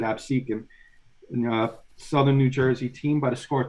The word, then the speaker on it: Absecon: Of Absecon, or Absecon, however you want to pronounce that. I pronounce it Absecon.